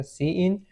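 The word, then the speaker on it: cin: यहां पे सी इन सी इन जो है आपके पास वो प्रोनाउंस होगा ए सी इन और उसका क्या है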